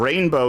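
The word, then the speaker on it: Reignbow: fuel rainbow sherbet and rainbow here is spelled re e i g n b o w nice that's very edgy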